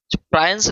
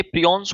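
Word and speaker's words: prion: प्रायंस नहीं है, ये प्रियॉन्स होते हैं। थोड़ा प्रोनाउंसिएशन यहाँ गलत है।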